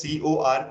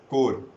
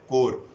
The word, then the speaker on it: corps: But corps is not the correct pronunciation, though it is written as corps, but it is pronounced as core, right?